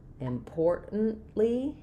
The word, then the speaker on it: importantly: Um we're stressing on the poor. So we have importantly important import. So the T that T doesn't come out import. And then I I only have the N sound. We don't make any sound for the A there. Important. And then I stop that T as well. And I release on the L.